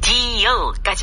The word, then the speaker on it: deal: 딜이라고 우리말로는 쓰게 되지만 사실은 영어로는 deal까지 발음합니다. 길게 발음하세요. 네.